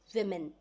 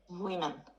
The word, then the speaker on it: women: make it as women remember the pronunciation is V sound rather than Vu sound it is women women right women women right